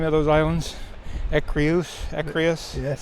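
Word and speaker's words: Écréhous: So, how do you pronounce the name of those islands? Ecrius. Ecrius.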